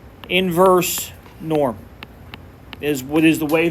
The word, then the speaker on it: invNorm: calculator is what's called IV norm and it's pronounced inverse Norm is what is the way that is pronounced